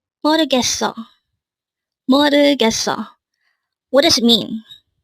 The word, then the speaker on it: 모르겠어: This pronounced as a four-syllable word. The first syllable is mo, second syllable is 르, third syllable is gets, and fourth syllable is o.